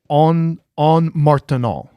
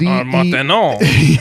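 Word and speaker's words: Ondes Martenot: It's a French pronunciation. I think it's called the en martenant is how you. Oui, oui. It's spelled. It's spelled ONDE. Martenant. Yeah, Martenant. It's ONDES, and then the second word is MARTENOT.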